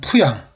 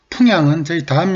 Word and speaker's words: 풍양: 마달이 부자라고 했습니다 377번은 푸양 풍양은 바로 인근에 있는 예천군 풍향을 말합니다 이응이 겹치면 앞에 이응은 탈락됩니다 이것은 평양을 피양이라고 하는